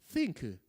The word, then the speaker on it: think: 발음 잘해야지. think.